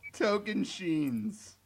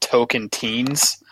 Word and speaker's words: Tocantins: characters on the show how do you spell Tocantins derailed toc a Oh auntie i ns holy